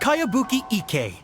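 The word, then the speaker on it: Kayabuki Ikkei: name who's this cowabunga it's pronounced kayabuki ike that would be me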